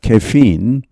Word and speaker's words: caffeine: 얼마나 많은 카페인을, 영어 발음은 caffeine입니다. caffeine.